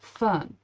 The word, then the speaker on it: Fern: Her name is actually, no, her name is similar to Frieren, and it's one syllable, Fern.